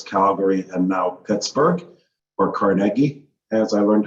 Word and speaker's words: Carnegie: Louis, Calgary, and now Pittsburgh, or Carnegie, as I learned how to pronounce it.